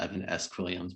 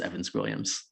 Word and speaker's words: Evan Squilliams: At first I thought it was like, a middle initial Evan S. Williams, but no, I realized that was Evan Squilliams.